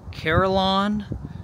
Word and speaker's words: Carillon: today I am at I believe it is pronounced carolon Park and you can see from the back